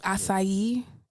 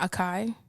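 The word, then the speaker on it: açaí: pronounce it in the language that it's supposed to be spoken. Like acai and not acai.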